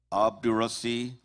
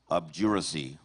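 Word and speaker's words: obduracy: Your word has two correct pronunciations. Abdurasi. Abjury.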